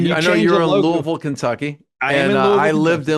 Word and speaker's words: Louisville: Um, and so, so when you when you I know you're in Louisville, Kentucky and I lived in Louisville. Louisville, Kentucky. I say Louisville, not Louisville, because I live there.